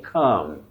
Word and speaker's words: calm: And we also say calm. Calm returned to the place, not calm returned.